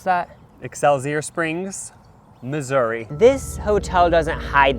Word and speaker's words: Excelsior Springs: Resort in EXO Springs ex how do you pronounce that exceler Springs Missouri this Hotel doesn't hide that they're haunted